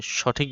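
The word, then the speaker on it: ث: গোড়া থেকে তা আর সা উচ্চারণ হবে সামনের উপরের দুই দাঁতের আগা থেকে সা এরপর জিম জিম এরপর হা।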